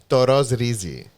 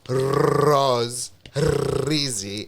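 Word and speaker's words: το ροζ ρύζι: But what happens is when you say it in Greek, in general conversation, it becomes toros rizi. It's like pretty... I get it. Because you know what? It's one flick of the tongue. It's not like the rose rizi. It's toros rizi.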